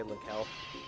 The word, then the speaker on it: Linkle: I'm really happy they included Linkel as a well, I know it's pronounced Linkle, but I'm just gonna say Linkel.